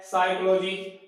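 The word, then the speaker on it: psychology: Silent letter क्या है, तो हमारे पास साइलेंट लेटर क्या है इसमें पी, यानी जो पी है वो क्या नहीं है, इसमें उच्चारण इसका उच्चारण नहीं किया जाता है।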